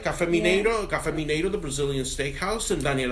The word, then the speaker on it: Mineiro: And it's at Café Mineiro. Am I saying it right? Mineiro. They're going to kill me. Mineiro. All right. Mineiro. She has to roll her R's.